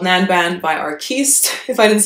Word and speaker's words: Nanban: It's called Nanban by Arquiste, if I didn't say the name. And I always just joke that rhymes with Gangnam, or the other bad word, Nanban.